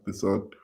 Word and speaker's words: DeSaad: Am I pronouncing his name right? Yeah, that's it. That's it. Straight from the comics. Yeah, Desaad.